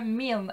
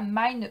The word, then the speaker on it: Milne: une petite parenthèse prononciation le nom de l'auteur c'est bien alan alexander milne et pas mind comme j'ai pu le